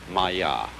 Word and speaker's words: maya: this kind of thing is the sanskrit term maya i'm going to write that down for you pronounced maya and this word comes from a root in